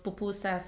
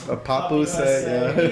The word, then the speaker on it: pupusa: food to people, explaining to people what a pupusa was. Everybody would pronounce it 100 different ways or read it a different, a pup USA, a papusa.